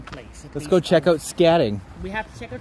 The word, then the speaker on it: Scadding: it is a scatting cabin. Scatting. Scatting with a D. Yeah, Yeah. SCADDING. Like that? Yes.